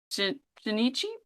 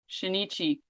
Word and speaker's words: Shinichi: one knows their secret except high school student tinichi shinichi Izumi whose right hand has been invaded by